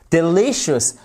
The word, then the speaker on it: delicious: délicieux vous avez aussi delicious delicious avec une accentuation sur cette seconde syllabe vous l'avez ici vous